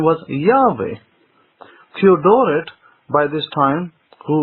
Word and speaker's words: Yahweh: stating the case that all early Greek writers found the name to be pronounced as Yahweh, not Yehovah, at any point in history.